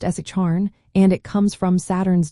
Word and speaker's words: Satharn: Saturday is called Satharn, pronounced as Charn, and it comes from Saturn's day, similar to English.